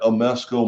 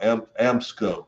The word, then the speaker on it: Amsco: That Amesco Marvel World, wow, Amsco. I keep saying it wrong. I don't know. I need to pronounce it. I always called it Amesco for some reason. There's no E in the middle of it.